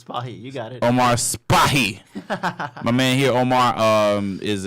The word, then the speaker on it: Spahi: Cannot pronounce his last name because it's kind of... It's Spahi. You got it. Omar Spahi.